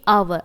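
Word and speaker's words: hour: एक चीज नोटिस करी तो मैंने आवर में है ना एच नहीं बोला एच प्रोनाउंस नहीं करा तो अगर मेरे जो मेरा नाउन है उस नाउन का पहला लेटर एच है तो मैं अ वहां पे है ना और एन यूज हुआ है तो मैं वहां पर एच प्रोनाउंस नहीं करूंगी द एच इज not pronounced in आवर तो आवर में एच प्रोनाउंस नहीं होगा ठीक है एग्जांपल सेकंड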